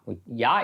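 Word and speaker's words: Jah: type in oh yeah yeah is spelled j-a-h j has got the Y sound and um you know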